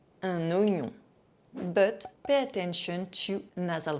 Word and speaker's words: oignon: The letters OI together are always pronounced wa. There is one exception, un oignon, un oignon.